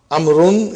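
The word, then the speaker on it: عمرو: As you can see, the proper name Amrun is written with waw, which is not pronounced.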